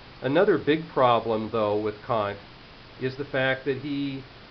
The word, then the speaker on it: Kant: mispronunciation of his name it is Kant not K so K's philosophy his